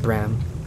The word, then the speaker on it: Braham: It's spelled Bram, or pronounced Bram, which is good to